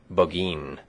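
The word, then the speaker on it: Burgoyne: had a famous foxhound named bergoin he pronounced it bin which my informant used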